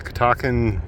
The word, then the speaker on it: Catoctin: Yeah, the Catoctin Aqueduct.